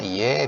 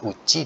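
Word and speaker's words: 家: Ya, bacanya iye, bisa uchi, bisa juga, ya. Kalau onyominya biasa dibaca ka, ya.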